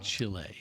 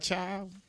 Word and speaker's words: Chile: She knows how to pronounce all the countries' names. Chile. Chile. Like that. Thank you. It's not child.